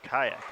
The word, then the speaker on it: Kayak: way to say it he says it's kayak like the boat I said I'm sorry